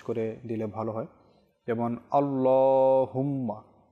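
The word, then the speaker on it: الله: পাতলা করে আল্লাহুম্মা তো আল্লাহ শব্দ এটার আপনার যে লাম রয়েছে এখানে যেহেতু খাড়া জবর থাকে আল্লাহ শব্দটাকে সবসময় একটু পুর করে মোটা করে পাঠ করতে হয়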